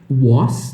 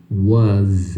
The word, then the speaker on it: was: Escreve com S, mas pronuncia com Z. Então não é was, não é she was, é she was.